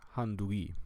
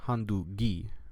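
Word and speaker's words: handugei: So here it would be pronounced as handui, not handugi, but handui, handui.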